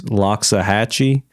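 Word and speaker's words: Loxahatchee: Lockxahhatchee.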